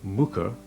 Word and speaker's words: Muker: Pronounced Muker, Muker and Thwaite are derived from Old Norse words meaning a small cultivated field and a woodland clearing, respectively.